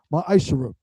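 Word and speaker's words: מעשר: tithes which is a commandment you can find this in numbers 18 to 21 and Malachi chapter 3 8-10 means 10th in Hebrew and is pronounced myisher 10% of every penny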